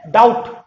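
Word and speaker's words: doubt: और बी से रिलेटेड दूसरा रूल है, जब बी के बाद टी आए, फिर से सुनिए, जब बी के बाद टी आए तो बी साइलेंट हो जाता है। जैसे डाउट, देखेंगे बी के बाद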